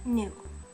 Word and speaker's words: ぬ: You don't have to use it if it doesn't work for you, but nu. Nu. Nu sounds like noodle.